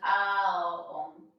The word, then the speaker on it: Om: And it goes Ao Om. So it's A, O, almost like we're saying And we can all